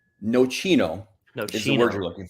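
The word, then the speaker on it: nocino: So, so let's let's start with Noino is the word we're looking for.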